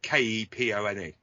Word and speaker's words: Kepone: His real side band is a band called Capone, and they're amazing. They're well worth checking out. They're really good. Fantastic. Like spelled like Al Capone, Capone. No, like Capone. It's Kepone.